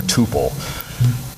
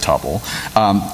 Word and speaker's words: tuple: is to store things in a couple or tuple not sure what pronunciation you like I'll stick with topple basically tuples just a